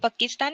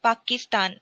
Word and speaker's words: Pakistan: It is not Pakistan, it is Pakistan. So go with A sound.